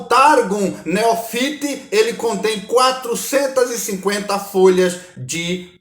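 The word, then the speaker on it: Neofiti: targum que é o targun neofite Né que é mais pronunciado assim é o maior dos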